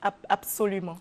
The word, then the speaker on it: absolument: Il y a une règle qui dit que tous les mots commençant par ABS, n'est-ce pas, se prononcent abs. Abs. Absolument.